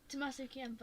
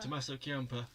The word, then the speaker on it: Tommaso Ciampa: Tommaso Ciampa. Tommaso Ciampa.